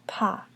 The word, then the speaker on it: pas: have paw paw and remember the S at the end of path is silent so paw just pops so let's look at